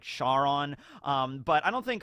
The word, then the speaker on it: Charon: ever mentioned that karon i think the correct pronunciation is like charon um but i don't